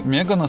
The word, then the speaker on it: Megane: Для многих "Megane" звучит как Меган Фокс, но если изменить ударение, сразу же на ум приходит известная модель Renault.